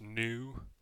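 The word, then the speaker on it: ν: letter looks like a V it's called new pronounced new and it is the degrees of freedom we'll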